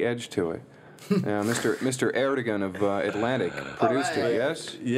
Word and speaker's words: Ertegun: Ertegun of Atlantic produced it, yes? Yeah, he did it. Have I pronounced his name correctly?